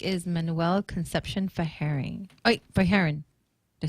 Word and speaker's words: Fajarin: Oh, Fajarin.